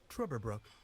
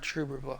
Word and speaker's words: Trüberbrook: It had that like pronunciate, like the two dots above the U.